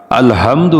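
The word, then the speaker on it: الحمد: যদি এখানে আমরা আলহামদু উচ্চারণ করি আলহামদু হাটা মাখরাজ যদি সঠিকভাবে উচ্চারণ না করি তাহলে এর অর্থ হয়ে যাবে সমস্ত নিন্দার মালিক আল্লাহ কত বড় ধৃষ্টতা আল্লাহ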